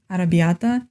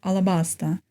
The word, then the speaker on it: Alabasta: On a more fun note, it was funny how Luffy once again mispronounced something when he said Arrabbiata instead of Alabasta.